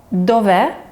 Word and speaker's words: dov'è: So the little line above the letter E means that that's the most important part of the word that we want to emphasize with our voice.